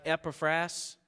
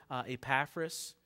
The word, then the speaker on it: Epaphras: Like Epaphras, I know some people pronounce it Epaphras, but it's Epaphras, who labored fervently in prayer.